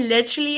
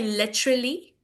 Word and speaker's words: literally: But sometimes when you say a word that starts with an L, a word that contains an L, it's you tend to like pronounce it like a W.